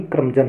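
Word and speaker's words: curmudgeon: Next word आता है क्रमजन, शुद्ध उच्चारण भी क्रमजन है, तो क्रमजन का मतलब भी चिड़चिड़ा होता है।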